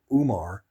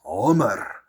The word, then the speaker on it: Umar: It's not Umar. It's Omar. Okay, that's how it's pronounced.